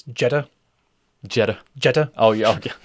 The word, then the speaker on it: Jeter: Michael, you're saying it wrong. It's It's Jetta.